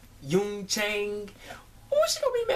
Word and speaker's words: Jung Chang: y Chang you can't it's not Jun it's y Yun Chang oh she going to